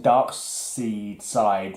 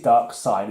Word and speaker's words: Darkseid: I was pronouncing Darkseid wrong for decades. Apparently it's Dark Side, isn't it? Yeah. I was always saying Darkseid, but it's not, it's Darkseid. It's, that EI order is strange, but it's German kind of, I've